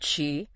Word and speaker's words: qi: the body's vital energy yeah pronounced Chi you can think of